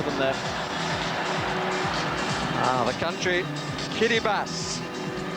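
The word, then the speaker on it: Kiribati: there ah the country Kitty bass not spelled like that but that's how it's pronounced let me assure you the former Gilbert islands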